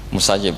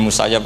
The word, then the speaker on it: Musayyib: Seperti Said bin Musayyab atau Said bin Musayyib, ketika dia masih hidup, jika dia dipanggil Said bin Musayyab, dia akan sangat marah karena arti Said al-Musayyab adalah "orang yang ditawan.